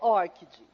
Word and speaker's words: ORCID: Mas, segundo a Lilian Pessoa, que é a representante do ORCID na América, para a América Latina, a pronúncia correta é ORCID.